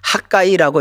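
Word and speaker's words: חַגַּי: 학개를 히브리어로는 학가이라고 읽습니다.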